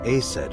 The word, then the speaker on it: Aset: Yeah, And Isis sounded like Aset in ancient Egyptian, which is where your stage name comes from.